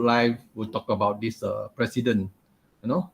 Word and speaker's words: Preceden: will talk about this president you know not u.s president but then he's just pronounced president so this is an